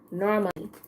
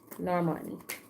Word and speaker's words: Normani: gosh, why am I always saying her name wrong? It's Normani. Normani.